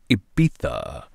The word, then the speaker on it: Ibiza: track I heard in Ibiza or as the locals pronounce it Ibiza I've never been there